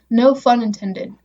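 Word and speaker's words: No Phun Intended: uh no i guess how do i pronounce it no fun intended but also no pun intended it's spelled p-h-u-m um it's his first album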